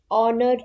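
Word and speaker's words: honour: five he is dash ऑनर to this profession H silent होता है ऑनर पढ़ा जाता है तो आंसर क्या हुआ ओ की आवाज है एन नेक्स्ट क्वेश्चन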